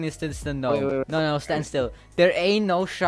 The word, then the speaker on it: Gnome: No, I'm saying this to the gnome. No, stand still. There ain't no shot. Yes, I know it's pronounced gnome, but since I am such a snowflake, I'll keep calling him Gnome.